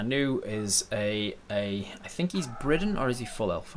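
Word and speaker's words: Bridan: remember or are new, is I think he's Briden, or is he full elf? I can't remember, actually. Let me look it up. Charlie is a Briden, yes. He's in his 50s. A Briden in my world is the B-R-I-D-A-N, is how it's spelled.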